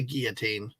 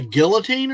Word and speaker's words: guillotine: laugh and entertain you, or they get the guillotine. No pressure, but Hungry Boy, hello. Hello. Number one, thank you for pronouncing guillotine correctly.